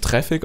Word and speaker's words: Traefik: das treffe kanisch oder traffic je nachdem wie er das ausspricht ich spreche ja traffic aus weil tatsächlich heißt auch der name ist aber eigentlich geht auf der webpage es wird traffic ausgesprochen also wundert euch nicht